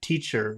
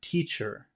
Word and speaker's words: teacher: How about the word teacher? Where is the emphasis in the word teacher? Teacher. Teacher. Pachu's busy, so we'll put the emphasis on the first syllable.